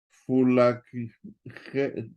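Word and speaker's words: φυλακή: Entonces le mete uno un poquito el acento como de J. Fulakhe, fulakhe, ¿sí? Nos dijo el maestro de griego que no nos atoremos tanto, hermanos, con la pronunciación.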